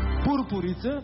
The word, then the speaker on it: пурпури: на думата голица пурпури пурпури първо не знам какво значи второ ударението е на у пица става жената на